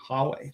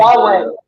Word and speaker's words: Huawei: slower than this new mega thing, the Hawe Huawei. Can somebody pronounce that company? Huawei.